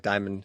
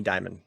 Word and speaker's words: Dimon: Probably, when I was pronouncing it earlier, it probably did sound like Diamond as well. So Jamie Dimon, good call.